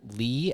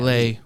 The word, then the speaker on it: Leigh: How do you pronounce Leigh? Lee. Or is it? Yeah, Lay. I think that's. I think it's Lee though. I just watched Haunting of Hill House, and Steve's wife name is Lee, spelled the same way.